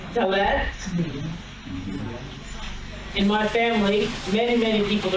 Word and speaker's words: Dalet: The way we pronounce it is Dalet.